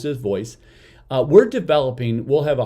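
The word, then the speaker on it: Voiss: one is called voice yes v-o-i-s-s it's we pronounce this voice we're developing we'll have a 140 different scenarios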